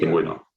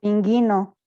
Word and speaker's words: pingüino: Pingüino. Pingüino. Pinguino. Pinguino. Pero para que no pronuncie pinguino, ¿qué es lo que hacemos? Le agregamos el diéresis, exactamente, sobre la U.